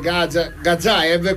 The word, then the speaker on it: Gazzaev: Credi che l'allenatore Gazzaev, come ci ha detto Stankevicius si pronuncia, possa arrivare in panchina già domani?